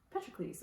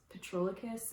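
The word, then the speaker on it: Patroclus: i was reading it i kept thinking it was petrolicus and then i started listening to audiobook and realized i was just reading the name wrong so yeah this follows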